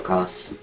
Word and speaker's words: Kos: But that is how you say his name, Kos. But no, so she kind